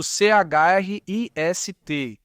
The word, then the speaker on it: Christ: É escrito Christ, mas o T é mudo, então ele pronunciava seu nome, Chris.